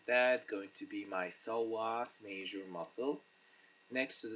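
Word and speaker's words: psoas: we have alakus so measure the P silence so it's called soas measure add doctor longus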